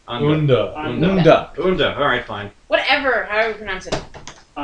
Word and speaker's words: Unda: U-N-D-A. Unda. Unda. Alright, fine. Whatever, however you pronounce it.